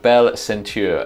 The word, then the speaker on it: Bell Senteur: in question is called belle center now um probably over egging the omelette there on the french pronunciation of century but there we go